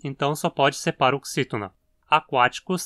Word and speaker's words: aquaticus: Aquáticos termina em icus, então só pode ser proparoxítona.